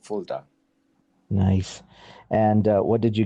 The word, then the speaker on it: Fulda: Yes, so it's the University of Fulda. So it's a Fulda. city in Germany. It's in the southern part of Germany, not too far from where we're growing up. It's called Fulda.